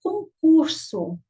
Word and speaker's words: concurso: Concurso. Olha, então você percebeu o quê? Concurso. A sílaba mais forte desta palavra foi a penúltima sílaba.